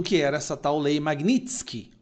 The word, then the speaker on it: Magnitsky: Os ministros do STF, a imprensa, à esquerda não faziam a menor ideia do que era essa tal lei Magnitsk. Magnitsk, a pronúncia correta, tá?